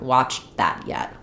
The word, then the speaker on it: watched that: But often this T gets a little bit swallowed. It doesn't get pronounced. It ends up sounding more like I haven't watched that yet.